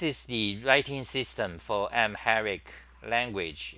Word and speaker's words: Amharic: let's look Amharic okay this is how you pronounce it this is IPA so it's M Herrick Amharic Amharic is one of the Ethiopian somatic Semitic languages